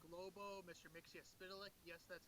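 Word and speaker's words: Mxyzptlk: Mixia-Spitalik. Yes, that's how it's pronounced.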